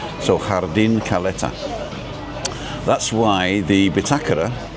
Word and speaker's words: jardín: And jardín, like the jardín la Caleta, the hotel we were just at. It's jardín.